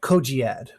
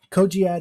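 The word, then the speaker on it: cogiad: in the middle right so i call that koji ad koji ad is spelled c-o-g-i-a-d if i had animation i would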